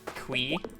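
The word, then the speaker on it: Qi: point and he said he just pronounces it qui like w no kw e.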